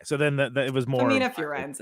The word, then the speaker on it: Femina Furens: So I feel like the Latin way, I'm hoping I'm getting this right, is Femina Furens. Okay. But okay, so then it was more Femina Furens.